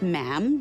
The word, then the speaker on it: ma'am: For instance, when you're addressing the Queen, she is Her Majesty, and after that is just ma'am, rhymes with jam.